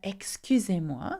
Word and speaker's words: excusez-moi: Okay, you will notice that excusez-moi seems quite easy to remember since it sounds very similar to excuse me. Excusez-moi. Can you hear that?